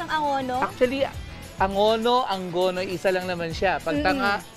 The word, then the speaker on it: Angono: lang ang banggit niyo kanina sa Angono is anggono may pagkakaiba po ba doon sa pagpapa pronounce ang Angono Actually Angono Angono isa lang naman siya pag t pag